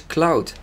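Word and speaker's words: Claude: And that's also where we get his name from, which is Cloud. Not spelled like the actual clouds in the sky, of course, but C-L-A-U-D-E.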